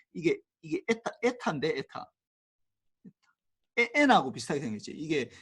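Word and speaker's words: η: 판단해서 이게 좀 이게 에타인데 에타 n하고 비슷하게 생겼지. 이게 그리스 문자야. 그리스 문자인데 이게 에타인데 에타라고 읽어.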